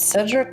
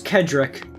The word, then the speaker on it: Cedric: Do you think it's Cedric or Cedric? It's Kedrick. Like the Lamar.